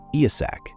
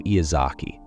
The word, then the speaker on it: Iyasak: Iyasak became Iyazaki, no matter how many times he corrected them.